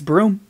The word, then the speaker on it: Brune: said it wrong yes it's broom like high sweep and what a great